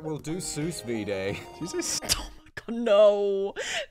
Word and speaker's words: sous vide: All right, we'll do sous vide.